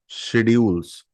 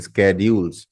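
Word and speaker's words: schedules: on Monday work शेड्यूल्स शेड्यूल्स या फिर कुछ लोग बोलते इसको स्केड्यूल एस सी एच ई डी यू एल ई एस on Monday work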